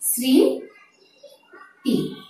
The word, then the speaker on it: স্মৃতি: স্মৃতি, যথারীতি এসির উচ্চারণ এসেছে স্মৃতি, কাজে উচ্চারণটি হয়েছে স্মৃতি। মফলার শব্দের শুরুতে বসলে আমরা নিয়মটিও পেয়ে গেলাম, শব্দের শুরুতে বসলে মফলার উচ্চারণ হবে না, কিন্তু অনেকগুলো বর্ণ আছে যেগুলোর সাথে মফলার উচ্চারণ হয়ে থাকে।